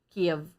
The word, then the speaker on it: Kiev: Ano mag-pronounce ni ma'am? Kiev man gid ma'am? Oo, Kiev.